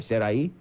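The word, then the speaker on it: Sarahi: Sarai?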